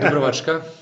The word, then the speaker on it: Dubrovačka: Yes, so we have the first bottle, that's Malvasia how do you pronounce that again? Dubrovačka.